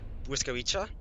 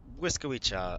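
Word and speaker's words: Błyskawica: emergency content in the Wisa yes that is how you pronounce it I'll put a link to a pronunciation guide in the description so Wisa uh tier 7 Destroyer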